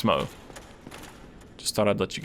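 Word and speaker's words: Smough: for that matter is also SM so it's Smo just thought I'd let you guys know but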